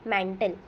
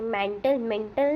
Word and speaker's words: mantle: मतलब अगर हम कहें कि बिलो मतलब जो क्रस्ट है इसके नीचे आएगा फिर मैंटल। ये मेंटल नहीं है, मैंटल है, जिसकी स्पेलिंग जैसे हमने यहाँ पे देखी।